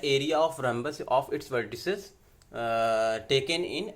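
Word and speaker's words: rhombus: मान लीजिए ये ए है, ये बी है, ये सी है, डी है, रैम्बस है, रोम्बस है यार, ठीक है। ये क्या है? रोम्बस।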